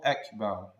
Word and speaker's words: Akbar: One needs to make sure to pronounce the Hamza Allahu Akbar, the Akbar.